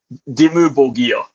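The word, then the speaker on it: Dimmu: about uh cradle of filth verse is it dim? Am I pronouncing that right? I wanted to end it with a rough one. Yeah, Dimu.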